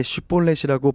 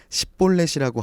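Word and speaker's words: שִׁבֹּלֶת: 히브리어의 알파벳과 같은 알렙벳에서 영어 SH와 비슷하게 발음되는 쉰과 S처럼 발음되는 사맥이 있습니다. 에브라임 사람들은 이 쉰을 사맥으로 발음하는 습관 내지 특징이 있었습니다. 사투리 정도로 생각해보면 좋을 것 같아요. 그래서 쉿볼렛을 발음시켜보고 십볼렛이라고 발음하면 아, 너 에브라임 사람이구나 하고 죽였다는 거죠.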